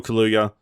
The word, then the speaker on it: Kaluuya: The nominees are Sacha Baron Cohen for The Trial of Chicago 7, Daniel Kaluuya for...